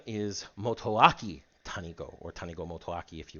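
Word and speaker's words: Motoaki Tanigo: it wrong more than once Yo's name is motoaki Tano or Tano motaki if you want to go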